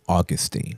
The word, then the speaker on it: Augustine: My mama hands me a book a few months later by I call him Augustine. Some people call him Augustine. Augustine hits right with me. I say Augustine. Those syllables feel right to me.